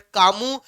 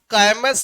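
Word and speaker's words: Camus: of philosopher थे Albert कामू कामस लिखा है बट आईटी इस प्रोनाउंसड स कामू प्रेम नाम जो भी होते हैं उनके लास्ट के दो तीन लेटर जो है वो साइलेंट हो जाते हैं दे आर नोट प्रोनाउंसड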